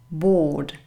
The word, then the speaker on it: bored: pronounced bored ward i'm bored i'm so bored what you do here you don't pronounce this letter and the stress is on the first syllable and this is a long o sound bored bored this is